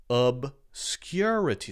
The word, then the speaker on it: obscurity: the word is so the stress on the word is clearly the second syllable syllable one syllable two